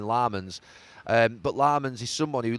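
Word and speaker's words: Lammens: I say Lemons and they're going Lamans.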